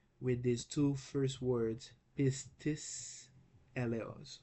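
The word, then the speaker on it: πίστις: Let's try, okay, with these two first words, pistis, eleos. Why do I pronounce it pistis? Because it's pi, iota, sigma, tau, iota, sigma. Okay? So the pronunciation is pistis.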